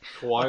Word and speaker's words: Kawhi: Kawhi okay.